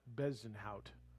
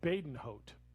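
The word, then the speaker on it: Bezuidenhout: heard on the telecast it's christian badenhoet not bezenhout so it's badenhote i butchered his name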